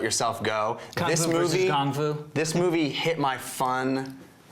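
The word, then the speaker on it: 功夫: Well, the best thing about this movie was the fact that they said Gong Fu instead of Kung Fu, because that's actually how it's pronounced, and they never say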